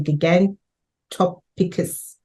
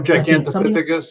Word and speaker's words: gigantopithecus: Ganttopicus. Oh, gigantopithecus. Yeah, giganticus is how you pronounce that.